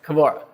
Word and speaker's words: Kbora: outside but yeah the actual is uh actual pronunciation is k k okay kabora um one of the things that you are